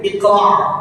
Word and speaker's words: اقرأ: Nah, ini huruf di sini ada huruf hamzah. Iqra. Ya, huruf hamzah. Jangan sampai nanti kita tukar dengan huruf ain. Iqra. Jadi bacanya iqra. Pakai huruf ain. Jangan sampai tukar. Jadi baca iqra. Iqra. Nah, huruf qafnya apa ya? Punya sifat qalqalah. Jadi iqra. Ya. Baik, jangan sampai qafnya enggak dibaca. Qalqalah.